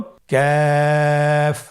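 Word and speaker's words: كاف: আবার বলুন কাফ। কাফের মাখরাজ আমরা স্ক্রিনে দেখতে পাচ্ছি। কাফের মাখরাজ হলো জিহ্বার গোড়া থেকে একটু আগে বাড়িয়ে তার বরাবর উপরে তালির সঙ্গে লাগিয়ে উচ্চারিত হয়।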